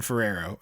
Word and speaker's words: Ferrero: Yeah, the actor's name is Martin Ferrero. So it's funny that his actual name rhymes with it.